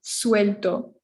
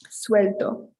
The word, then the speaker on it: suelto: though there's a ue you have to pronounce them separately suelto g is the only